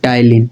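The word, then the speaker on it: ptyalin: आप टाइलिन बोलते हो स्पेलिंग मैच कर लेना पी टी वाई एल आई एन टाइलिन ठीक है पी साइलेंट होती है तो हमने आपको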